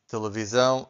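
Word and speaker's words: televisão: It was easy for you to understand that this S sounds like the Z. Okay. So, every time we have an S between two vowels, again, every time we have an S between two vowels, the S sounds like Z.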